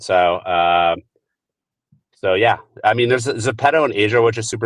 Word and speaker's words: Zepeto: Zepeto in Wait, South Korea.